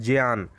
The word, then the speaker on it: ज्ञान: हलंत वाला और इया, इसका शुद्ध उच्चारण होता है ज्ञान। किंतु प्रायः ये देखा जाता है कि ज्ञा अपने स्वरूप से भिन्न उच्चरित होता है, ज्ञान लोग कहते हैं, जबकि होना क्या चाहिए, ज्ञान होना चाहिए। तो अध्यापक को संयुक्त व्यंजन